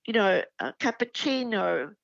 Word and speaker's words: cappuccino: Cappuccino, the ch is a double C.